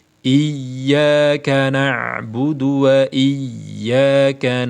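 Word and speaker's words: إِيَّاكَ: fatal kan ya fatal jadi yang benar tasdid jangan lupa ya dan lebih baik lagi ketika ynya diberi Nabar diberi hentakan diberi hentakan seperti ini iyyaka na'budu wa iyyaka n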